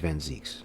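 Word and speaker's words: van Zieks: is a Dutch name and and iie is pronounced e okay so it is vanz okay with two with two e okay I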